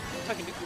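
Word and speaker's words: Tanooki: I believe that's Mario in a Takenouki suit, if I remember correctly. Is that pronounced correctly? Yeah, it's like a Tanuki.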